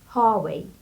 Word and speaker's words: Huawei: So, the brand name Huawei, in Chinese, they pronounce it something like Huawei, because in Chinese, letter H doesn't pronounce. But in English, American English, we pronounce it like Huawei.